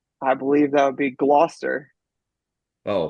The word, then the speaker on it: Gloucester: I believe that would be Gloucester.